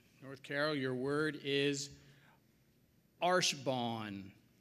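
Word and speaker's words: archebanc: I pronounce it like it's supposed to be pronounced, I believe, but it's spelled A-R-C-H-E-B-A-N-C.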